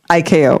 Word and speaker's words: ICAO: Now, I always called it ICAO, which is how we pronounce it in the Army. Is it ICAO or is it ICAO? ICAO. Okay, see, we were saying it wrong in the Army the whole time.